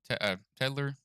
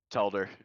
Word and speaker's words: Telder: That was Matt Tedler. How do you say your last name? Telder. Telder.